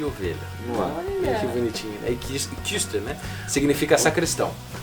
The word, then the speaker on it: Küster: Kister. Eu digo Kister pra facilitar, né? Mas o I, você faz boca de U e fala I. Kister.